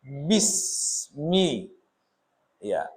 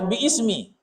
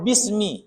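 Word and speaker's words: بسم: ada ism iya jadi tapi jangan dibaca biismi dibaca bism Dalam bahasa Arab namanya itu takhfib ya watashil. Jadi tidak jangan dibaca biismi salah tapi bacanya bismi.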